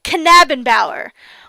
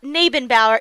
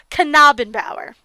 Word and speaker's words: Knabenbauer: correct myself and say his last name is not Nabenbauer, it's Knabenbauer.